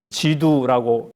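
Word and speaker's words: 基督: 불렀고 그런 사람을 기대했습니다 이 그리스도를 중국어로 이렇게 발음하면 지 두라고 했습니다 중국인들이 지 2 하고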